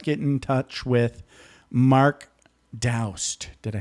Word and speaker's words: Daoust: So how can people out there best get in touch with Mark Daoust? Did I say it right? Yes, rhymes with Faust.